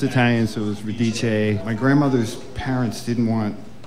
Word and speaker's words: Radice: It's Radice. Oh, that's right. Radice. The rhymes with release or police or...